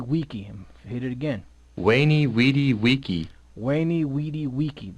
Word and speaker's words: veni vidi vici: wiki waney weedy vici that was the actual pronunciation of that you know but but then that's why they put it first because that that's the classical Latin now the modern Latin veni vidi vici veni vidi vici so